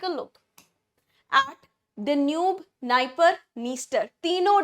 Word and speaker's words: Dniester: Another important river, Dnieper, Dniester. D है नाम में but D is silent. So we have Dnieper, we have Dniester.